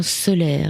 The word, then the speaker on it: Soler: On va en parler ce soir avec Soler. Il s'appelle Comme le soleil, mais ça s'écrit S-O-L-E-R.